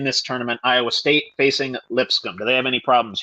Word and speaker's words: Lipscomb: How the fuck do you pronounce that? Lipscomb. Lipscomb. LIP scum. No offense to any alumni in that school.